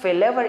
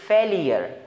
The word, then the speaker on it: failure: word is फेलेवर again हम इसको फेलेवर pronounce करते इट्स नॉट फेलेवर इट्स फेलियर फेलियर अब यू आर ई को हम your pronounce such as फेलेवर अब फेलेवर नहीं है फेलियर है फेलियर नाकामी को